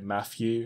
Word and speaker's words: Matthew: saying my actual name i say it matthew and you're supposed to say it with more of a th noise but that is simple